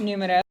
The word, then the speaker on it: números: Así se pronuncia. Énfasis en la U. Los números.